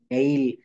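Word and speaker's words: nail: এই হবে যেমন রেইল নেইল দেখেন নেইল বানান কি এন এ আই এল তো এই যে এ আই এইটুকের উচ্চারণ হয়ে যাবে এই যেমন স্ট্রেইট এখানেও দেখেন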